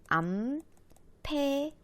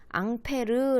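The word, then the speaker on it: ampère: 라고 쓰고 읽을 때는 암페어 라고 읽어 3 암페어 5완 페어 라고 이거 미국 식으로 읽으면 은 암페어 인데 이걸 프랑스 식으로 프랑스식 발음으로 읽으며 는 앙페르 라고 하기도 하거든 이따가 앙페르 법칙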